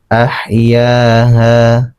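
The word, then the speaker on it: أَحْيَاهَا: Di sini kasusnya karena fathah bertemu alif sukun di huruf ya ini. Kemudian di huruf di ha juga ada fathah bertemu alif sukun. Ya. Ah. Cara membacanya ahyaha. Ahyaha.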